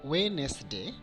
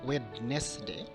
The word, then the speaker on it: Wednesday: Letter D can sometimes be silent. For example, Wednesday, not Wednesday, not handsome, rather we should say handsome.